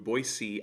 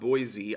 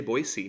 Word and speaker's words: Boise: ago I did a day trip out to boyy Idaho by the way you pronounce it boyy not Boise I didn't know that until I was in